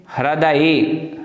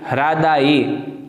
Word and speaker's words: हृदये: नीचे देखें हृदये, हृदये। कोई लोग उच्चारण करने में बड़ी कठिनता महसूस करते हैं हृदय शब्द के उच्चारण में, तो ध्यान रखें हृदये।